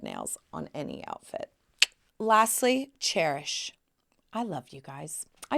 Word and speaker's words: Chairish: for design and SPO cherish like a chair not spelled like cherish c h a i r like a chairish how cute is that